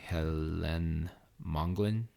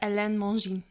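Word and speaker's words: Hélène Mongin: teresa of lazu by helene mongolin totally wrong how do you say that ellen mongine but it's translated by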